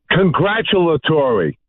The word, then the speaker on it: congratulatory: yeah by the way Bobo does want to get on the air and say it properly let's give him a shot go ahead Bobo did you learn yes congratulatory there you go congratu Tori thing now